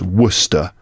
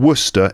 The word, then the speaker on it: Worcester: pronounced wer it's spelled War sester but it's pronounced Worcester as someone living in Worcester England I've been able to impress my friends